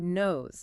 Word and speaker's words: knows: Does the E sounds like Ez or Z? It sounds like Z knows, right?